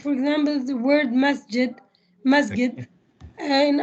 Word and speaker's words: masjid: word masjid masjid and in egyptian arabic we we don't we don't have the ability to pronounce the j sound which in modern standard arabic must get the word musket it's supposed to be said like that masjid what we say the